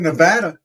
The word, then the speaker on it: Nevada: But Nevada is the correct way to pronounce it.